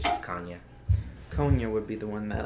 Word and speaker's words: Konyha: you know yeah so that's like there's different pronunciations i've been called kanya konya different ways of saying it but it's it's just kanye konya would be the one that i would probably